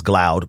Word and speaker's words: Glaude: I know I think some people pronounce it as glaub but whenever he came on my show we always just said glod so but anyway where